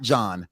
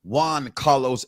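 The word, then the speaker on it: Giancarlo: the new Falcon of course Juan not John Juan Carlos Esposito playing uh Sidewinder they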